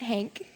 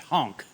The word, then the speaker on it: Hank: I look forward to sharing how my many years in the pageant circuit have prepared me to be President Hank. Oh, well, it's actually pronounced honk.